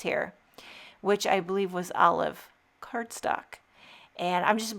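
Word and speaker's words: Olove: Olive. Is that how you say it? Cuz you want to say olive, but olive is with an I. And this is O L O V E.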